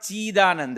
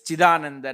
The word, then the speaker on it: Chidananda: So it's not Chidananda, it's Chidananda Nathoham iti santatam.